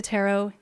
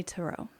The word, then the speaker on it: tarot: they say Taro mhm people who are introduced to tarot in the 50s 60s and 70s they often say tarot to and it's not wrong I think it's more